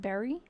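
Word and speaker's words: Barre: I think it's pronounced Berry for me.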